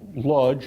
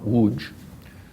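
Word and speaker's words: Łódź: emphasize that congress poland especially lodge on using the yiddish pronunciation not woods by the way does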